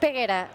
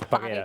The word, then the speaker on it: Peguera: It's Peguera. Peguera. Yeah. Or if you come from where I come from in Catalonia, it's Paguera. Paguera. Paguera. No, not Peguera. Paguera. Paguera.